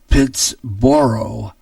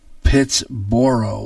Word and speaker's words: Pittsburgh: made the correction that Pittsburgh should be pronounced pits borrow pits borough which does to me sounds just plain stupid similar to that have